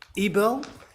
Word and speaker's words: Ebel: Constable Ebel, is that pronunciation correct? Correct.